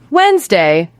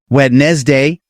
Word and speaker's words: Wednesday: Wednesday. Wednesday. Yes, exactly. W-E-D-N-E-S-D-Y. Most learners say W-E-N-E-S-D, pronouncing every letter. But native speakers actually say Wednesday. The D is entirely silent.